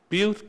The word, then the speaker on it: Butte: By the way, butt is pronounced boot, rhymes with cute. Well, lads, I'll write again soon with best regards, Jerry, Sheare Street Social Club. But, butte, cute.